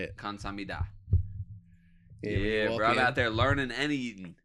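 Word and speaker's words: 감사합니다: Kamsahamnida.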